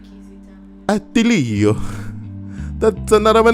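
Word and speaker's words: Attilio: It's not Atilio because there's only one L, isn't there? So it's two T's and one L.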